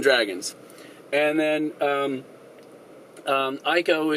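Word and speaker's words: Eiko: and then um um Ico is the uh I think that's how you pronounce her name is the costume designer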